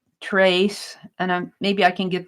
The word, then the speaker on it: tres: And he's going to be saying, trace, and maybe I can get this printed out. So he's going to be saying 3 wishes. TRES, but it's pronounced TRACE, Tres deseos.